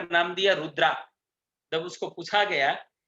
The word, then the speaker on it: रुद्र: Chemical का नाम दिया रुद्रा। जब उसको पूछा गया कि ये रुद्रा क्यों रखा, वहां लोगों ने पूछा, रुद्र रुद्र रखा था, लेकिन प्रोनाउंस में वो लोग रुद्रा बोले स्पेलिंग के हिसाब से।